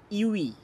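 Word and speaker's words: ewe: কিন্তু দেখো প্রথম যে শব্দটা রয়েছে ইউই, ইউই একটি পাখির নাম বলছে, ই, ডাব্লিউ, ই, ইউই, যেহেতু এখানে উচ্চারণটি ইউ দিয়ে হচ্ছে, তাই এ ইউই হবে।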